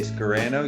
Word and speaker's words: Scarano: Sopranos here you go you say Scarano you say soprano oh say soprano so you can't it's